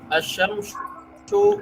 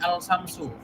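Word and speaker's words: الشمس: Jadi jangan membacanya al-samsu ya. Jadi sesuai kaidah alif lamnya.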